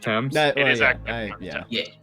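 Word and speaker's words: Thames: can tell you the TS is it pronounced TS my bad it's no wor it does not look like it it's not intuitive thanks now that's a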